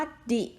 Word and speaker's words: the: เลย นะ คะ อาญา ออก เสียง คำ ว่า ดิ ผิด นะ คะ นี่ เรา จะ ออก เสียง ดี ก็ ต่อ เมื่อ คำ ว่า อะไร คะ Orange นะ คะ เพราะ ว่า ตัว O เป็น สละ นะ เอา เค ค่ะ จะ